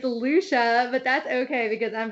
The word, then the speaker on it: Lucia: you so much brian you did pronounce my name wrong it's lucia but that's okay because